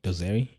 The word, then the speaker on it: Dosari: Dosari.